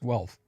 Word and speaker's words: Guelph: Okay, it's pronounced Guelph.